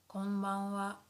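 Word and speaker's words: こんばんは: Good evening would be konbanwa, konbanwa, konbanwa. So although here this is hiragana ha, but sometimes we pronounce it as wa, wa.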